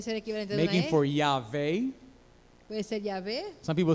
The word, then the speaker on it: Yahweh: The best way to pronounce this is Yahweh. La mejor manera de pronunciarlo es Yahweh.